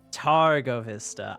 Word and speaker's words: Targo Vista: Targo Vista.